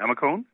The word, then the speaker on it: Amicone: have only talked couples how do you say your last name a McCone alma tone yeah yeah you got it right yeah right okay I